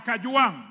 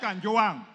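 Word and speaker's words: Kajwang: I'm not Gachechua. I am Kajuang, not Kanjuang.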